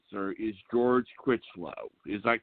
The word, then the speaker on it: George Chritchlow: The guest that we have tonight, and I hope I pronounced your name right, sir, is George Chritchlow.